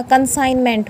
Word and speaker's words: consignment: अलग से वर्ड लगा दो, कंसाइन हो गया, कंसाइनमेंट पूरा वर्ड बनाया, तो जो GN है वो क्या है, इकट्ठे आए हैं, तो कंसाइन या कंसाइनमेंट।